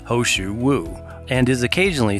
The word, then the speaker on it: He shou wu: root hosu wo the Chinese pinion translation is pronounced hosu wo and is occasionally spelled hosu wo for this